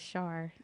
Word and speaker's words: Char: So I think that's what you say rhymes with star, so they can go by that as Char.